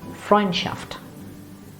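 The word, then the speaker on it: Freundschaft: stressed these at the end say with me fine shaft again frying shaft or this one would be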